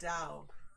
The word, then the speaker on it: Tao: life readings here too it's dao tao is pronounced dow like down hey whatever right it